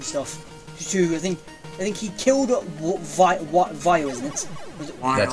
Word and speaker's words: Vile: I think he killed Vile, isn't it? That's how you pronounce it, yes. Yeah, Vile.